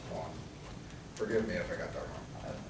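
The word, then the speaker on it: Quon: is a united states i think it's pronounced quan forgive me if i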